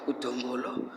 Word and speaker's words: Dombolo: That's pronounced as Dombolo.